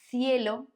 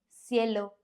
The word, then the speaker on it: cielo: by E or I, then the C has this sound, like in the word think in English. For example, cielo, cejas. Although in Latin America and some parts of Spain, this can be pronounced as an S.